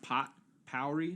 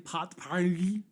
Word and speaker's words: potpourri: glad you asked so today we are doing potpourri is now it's not pronounced pot powering pot party know so it's party so it's an original